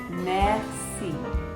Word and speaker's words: merci: You would say merci. Merci. You try that. Say it with me. Ready? Merci. Merci. Or you could even say thank you very much, which would be merci beaucoup.